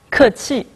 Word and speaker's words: 客气: В случае с «кэти» то же самое. В отдельности оба слова произносятся четвертым тоном. «Кэти». Но когда они вместе, «чи» становится нейтральным, «кэти».